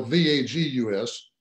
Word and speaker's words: vagus: with this vagus nerve spell VAD us pronounced like Las Vegas but spell VA G us and it attaches to